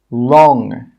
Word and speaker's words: wrong: The letter W is often a silent letter when it comes before an R at the start of a word. Some common examples are right, wrote, wreck, wrong, rap. In all of these words, we're not pronouncing the W sound. It's silent. We're just pronouncing the R sound.